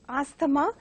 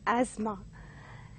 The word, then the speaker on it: asthma: So this has to be pronounced as determine, and more often the second word is pronounced as asthma by many people, but has to be pronounced as asthma.